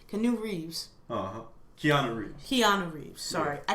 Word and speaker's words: Keanu: on your best behavior absolutely you gotta wear canoe i can never pronounce his name right canoe reeves uh-huh keanu reeves keanu reeves sorry i can never get